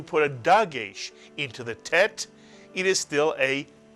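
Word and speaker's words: טית: These two letters make the same sound, but this letter is called a tet. It rhymes with bet.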